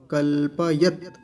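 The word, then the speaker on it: कल्पयत्: कल्पयत, कल्पयत नहीं, कल्प, कल्पयत। और तकार पर हलंत है तो वहीं रुक जाएंगे, कल्पयत। अगर हलंत नहीं होता तो क्या बोलते, कल्पयत ऐसा। लेकिन अभी क्या बोलेंगे, कल्पयत ऐसा।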